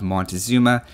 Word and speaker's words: Montezuma: There were also various people on that video asking about or pointing out a better pronunciation of Montezuma as Moctezuma. From what I've read, both are accepted, and the campaign went with Montezuma, so that's what I went with.